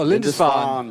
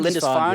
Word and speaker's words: Lindisfarne: Oh, Lindisfarne. Is that how you pronounce it? Lindisfarne, Lindisfarne?